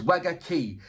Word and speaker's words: Wagakki: It was you that told me how to pronounce it. So it's Wagaki.